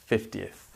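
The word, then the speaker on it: fiftieth: So whereas I said you don't pronounce the F in 5th, you do pronounce the F in 50th.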